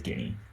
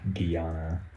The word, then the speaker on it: Guinea: wild or guinea yay actually i think it's guinea so it would actually be it is guinea that's how you pronounce it i just see guiana because that's what my brain says oh